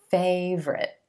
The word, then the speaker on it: favorite: I know it looks like it should be favorite, but we're going to X out that O in the middle. We're just going to say 2 syllables, emphasis on the first syllable, and the A is in gray sound.